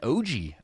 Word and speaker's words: Oji: Gideon Oji of Morrow, Georgia. He's ranked number 7 by the MLE. Wow. Go Gideon. Oji? Yeah, Oji. It's spelled OJI.